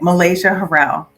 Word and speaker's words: Malaysia Harrell: name so I can say it correctly okay Malaysia Harrell Malaysia it's very beautiful thank you first let's